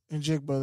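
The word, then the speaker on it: Njigba: And Jigba, there you go.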